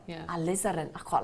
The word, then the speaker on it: Alizarin: Alizarin. Alizaren. Is that right? Maroon. Really? Oh, I like that. Just maroon. Alizarin. Have I pronounced that right? Yeah. Alizarin.